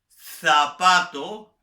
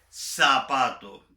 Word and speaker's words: zapato: Yo soy venezolano, por lo tanto, por ejemplo, la Z española la pronuncio como una S. Yo ceseo. Yo no digo, por ejemplo, zapato. Lo normal para mí es decir zapato.